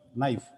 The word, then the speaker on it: knife: example we have knife k n i f e knife whereas where first letter K whereas we pronounce it as knife K is a silent sometime com c m